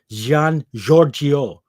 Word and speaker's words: Gian Giorgio: invented until 1524 by, how do you pronounce this guy's name? Giorgio? No, it's Gian Giorgio or Gian Giorgio.